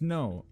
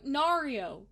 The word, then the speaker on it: Nairo: It's Nairo. Well, you can't fucking decide what it's pronounced either, so... Nairo. There's no Nario. Nairo. It'd be Nairo. That's what I was thinking. Cairo is a C.